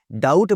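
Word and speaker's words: doubt: जैसे डाउट बोलते हैं, डाउबट नहीं बोलते।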